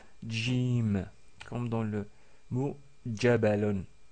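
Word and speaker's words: جيم: Ensuite, nous avons vu la lettre Jim, Jim, donc c'est pas exactement comme le G que nous connaissons en français, c'est un peu plus fort, donc c'est J, J, Jim, comme dans le mot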